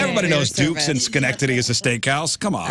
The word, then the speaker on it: Schenectady: It's Schenectady. Schenectady, New York.